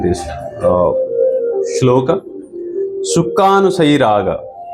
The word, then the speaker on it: Sukhanusayi: We'll try to pronounce this pronunciation, this shloka. Sukhanusayi Raga. It's a very small 3-word sutra. Sukha Anusayi Raga.